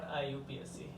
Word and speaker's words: IUPAC: तो मैं इसको अगर प्रोनाउंस करता हूँ तो मैं इसको प्रोनाउंस करूँगा IUPAC, नॉट IUPAC। ये बात ध्यान रखे चलना, this is IUPAC name, not IUPAC name.